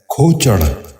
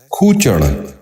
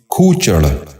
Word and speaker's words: کھوچڑ: غور سے سنیے، کلوخ۔ 14واں اور آخری لفظ ہے کھوچڑ۔ یہ غلط تلفظ ہے، درست تلفظ ہے کھوچڑ۔ دوبارہ سنیے، کھوچڑ۔ بچوں آپ بھی غور سے سنیے، کھوچڑ۔ امید ہے آج کی